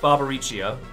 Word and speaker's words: Barbariccio: too such a waste i've portrayed no one barbariccio i've returned to my senses i pronounced that one right correct barbariccio and you've grown arrogant as well i see